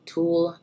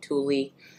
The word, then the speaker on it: Tulle: helped me pronounce it I used to call it Tulie and all of you were like girl that is not how you pronounce it um that brand occasionally